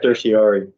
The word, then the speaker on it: certiorari: Certiorari.